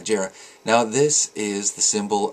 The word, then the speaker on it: Jera: food dark room uh today is jera or jarrah i mean you know i'm north american we pronounce our js uh but uh yeah jarrah now this is the